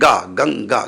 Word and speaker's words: गंगा: कौन सा शब्द है, तो अंत में गा, गंगा, गा है। तो देखिए गा कौन से वर्ग में? तो का खा गा गा, का खा गा, तो एक कवर्ग में है। तो कवर्ग का अंतिम अक्षर अंगा, तो ये बिंदी अंगा कहलाएगी।